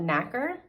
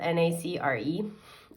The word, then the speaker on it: nacre: So the mollusk secretes a substance called nacre. I think that's how you say it. It's spelled N-A-C-R-E. So correct me if I'm wrong.